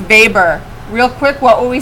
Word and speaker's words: Weber: amongst catholics first protestants looks like weber but pronounced vapor real quick what would